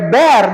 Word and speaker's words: bear: Jangan bear. Bir mah minuman beralkohol ya. Kalian enggak boleh. Oke. Bear dibacanya ya.